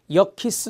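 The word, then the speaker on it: Yerkes: 알파 게 말이 있습니다 여 키스 라고 읽어요 역 키스 그 다음에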